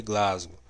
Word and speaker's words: Glasgow: certo então vamos lá pronunciação correta a escala de coma de glasgow tá inscrevam aí deixa